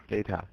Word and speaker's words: data: you say this word data okay there's two pronunciations data or data both are quite okay now is it is